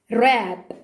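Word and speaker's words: wrap: طيب لا ينطق إذا جاء بعده حرف ال R، زي كلمة right، مش ورايت، right. rap، rap.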